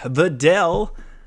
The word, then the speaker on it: Videl: Videl, which is how you actually say her name.